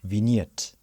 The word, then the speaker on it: vignette: Let me tell you how you pronounce it. You pronounce it as vignette.